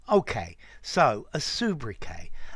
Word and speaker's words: sobriquet: will understand it but french words normally in english we cut the last consonant particularly when it's something like a t okay so a subra k it's a humor a